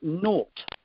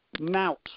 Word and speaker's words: naught: then that training is worth naught or nout, or however you want to pronounce it, depending on where you are from around the country.